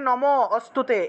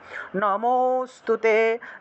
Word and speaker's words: নমোস্তুতে: এটাকে নম অস্তুতে এইভাবে উচ্চারণ না, একসাথে উচ্চারণ করতে হবে। নমোস্তুতে, নমোস্তুতে, অর্থাৎ নম যখন বলবেন তখন অটোমেটিকভাবেই অ চলে আসবে, অর্থাৎ লুপ্ত অ এর উচ্চারণটা চলে আসবে।